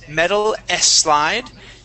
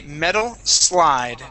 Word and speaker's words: metal slide: slide metal slide okay now there you're you're pronouncing an e in front of that s saying Metal s slide okay take off that e and say metal slide try that okay metal